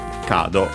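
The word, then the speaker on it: カード: Cado, okay, on the ca as expected on the first syllable.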